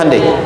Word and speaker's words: Hyundai: Hyundai kan dibacanya Handeai ya kan.